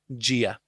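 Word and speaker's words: Dia: is god in irish it's spelt dh the dh letters mean j and ia okay jia okay jiev that means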